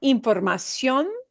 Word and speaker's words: información: Da información. Da información. Okay, and get that sh to go bye-bye.